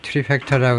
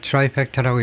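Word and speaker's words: trifecta: 아까 제가 트리팩터라고 할 때가 트라이팩터라고 읽었는데 아마 발음이 트라이팩터가 맞겠죠. 아니고 트라이 해야 되겠죠.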